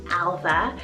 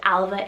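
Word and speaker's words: Ailbhe: side we have the name alva spelled a-i-l-b-h-e alva now this one means fair noble and bright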